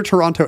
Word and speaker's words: Toronto: GTA Canadian GTA greater Toronto area Greater toron Toronto remember Toronto never pronounce that second I'm not Canadian I